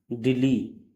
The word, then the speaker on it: dele: अगला वर्ड है DELE, दिल्ली। अगला वर्ड है CLICHE, क्लिस। तो यहाँ पे ई का उच्चारण ए हुआ।